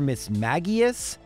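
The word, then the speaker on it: Mismagius: she sends out a Miss Mages or Miss magius apparently that's how you're supposed to pronounce it but we're not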